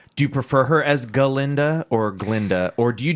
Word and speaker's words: Galinda: Oh, syllable. A. Galinda.